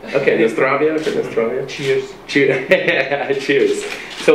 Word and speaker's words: na zdravlje: How do you say cheers in Croatian? Živjeli Bog, different. Živjeli Bog? Na zdravlje. Okay, na zdravje.